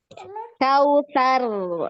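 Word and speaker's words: الكوثر: Kautsar. Ngalir. Kautsar. Inna a'toina kal Poina. Nah, ngalir ya ainnya. Inna poina kal kautsar.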